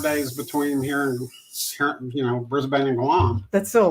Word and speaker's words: Brisbane: Well, I'm trying to remember not to pronounce the A. I used to call it Brisbane, and then that was wrong. That was incorrect. I was corrected that.